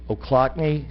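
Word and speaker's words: Ochlockonee: 22 million visitors and just shot up overnight o'clockney state park did i say it right you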